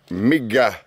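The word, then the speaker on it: mygga: Migga. That is mosquito. That's how you say it.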